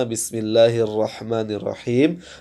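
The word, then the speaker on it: بِسْمِ اللَّهِ الرَّحْمَٰنِ الرَّحِيمِ: disukunkan karena waqaf ya ketika dia sukun karena waqaf maka Antum harus membacanya dengan sedikit memberikan suara untuk menekankan bahwasanya ini adalah huruf mim ya bukan dengan cara memotong suara terlalu ee ee jelas karena Bismillahirrahmanirrahim m ada sedikit m-nya ya Ini untuk apa untuk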